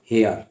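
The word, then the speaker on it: hair: जैसे देखिए एग्जांपल मैं लिख देता हूँ यहाँ पर एच ए आई आर, तो इसको क्या पढ़ेंगे? हेयर, या बोलो हेयर। शुद्ध उच्चारण हो जाएगा हेयर।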